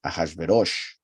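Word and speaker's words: אחשורוש: In this case, as we know, it is pronounced as an O, Ahashverosh, Rosh, right?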